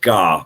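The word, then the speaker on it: dhà: Yeah, that's pronounced Gar with a G, not a D.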